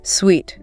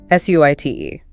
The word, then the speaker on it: suite: Sweet. S ui t e pronounced suite.